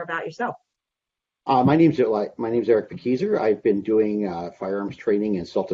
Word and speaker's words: Pakieser: Am I saying it correctly, Pakieser? That is correct, yes. Okay, perfect, because I've had some debates with fellow trainers about whether it's Pakieser or Pakaiser, so I just won that.